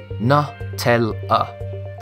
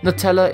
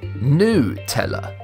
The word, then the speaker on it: Nutella: Nutella, the hazelnut spread, is pronounced Nutella, right? After all, it's got nuts in it. Well, not quite. According to Ferrero, the company that manufactures it. In the UK, Nutella is acceptable.